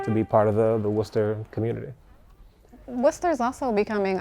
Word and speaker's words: Worcester: me graffiti mural street art it's all semantics pronounced worcester or like worcester i guess if you're from here worcester perfect perfect so tell me how a manhattan